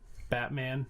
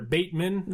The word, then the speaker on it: Bateman: So, I always want to call him Batman, but they're Bateman, I believe is the pronunciation for him.